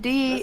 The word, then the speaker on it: die: also, the word D in German is spelled like die in English. It's not D-E.